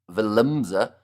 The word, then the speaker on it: Willemse: Uh you usually say something like Vil Vilimse. Uh the stress should be at the Vilimse.